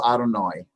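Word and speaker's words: אדני: Yeah, but it's always pronounced Adonai because Mhm.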